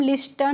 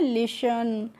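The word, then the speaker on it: listen: तो इसको हम लिस्टन नहीं पढ़ते हैं। क्या पढ़ते हैं? लिसन। यहां पे जो फ्रेंड्स एस के बाद जब टी आती है तो वहां पे टी क्या रहती है? साइलेंट रहती है। साइलेंट का मतलब क्या होता है? चुप। यानी कि उसको हमें पढ़ना नहीं होता है। तो लिसन पढ़ते हैं।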